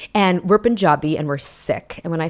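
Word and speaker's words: Sikh: s i k and we are uh reclaiming the correct pronunciation so it's sick not seek thank you and I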